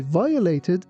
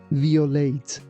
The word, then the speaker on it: violate: It was given a ticket because the policeman said I violated a traffic law. Here be careful that we don't say violate or violet. We say violate.